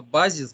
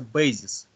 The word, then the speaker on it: базис: Вот я заметил часто слово «базис» читается «бейзис». Вот, «Бейзис»? А, хорошо. Да, вы говорите часто «бейзис». А на русском «ба-ба», «базис».